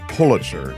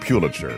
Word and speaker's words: Pulitzer: He said, by the way, Mark, it's Pulitzer, not Pulitzer, which I never knew.